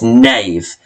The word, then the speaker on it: knave: we have the word nave so you notice that it starts with a k but it's a silent k so it's knave and that means a